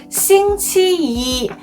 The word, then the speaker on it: 星期一: Monday is the first day of the week and is essentially associated with the number, so it is pronounced 星期一, where the tone of 一 remains unchanged.